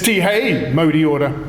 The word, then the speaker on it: Tihei mauri ora: It's Tihei mauri ora, get it right.